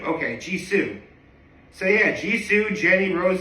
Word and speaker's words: Jisoo: And is there a way to pronounce the name? Jisoo. Okay, Jisoo.